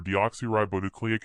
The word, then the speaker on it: deoxyribonucleic: dad DNA stands for deoxyribonucleic acid it's a long word but easy to pronounce if you divide it into smaller pieces you can say it like this deoxy ribo nucleic acid I prefer DNA Dad